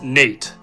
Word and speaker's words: Nat: two sons Jordan and Nat the latter's name often pronounced as Nate Nat love the youngest